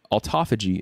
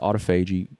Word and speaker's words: autophagy: And autophagy is how I pronounce it. Some people pronounce it autophagy, you know, whatever you prefer.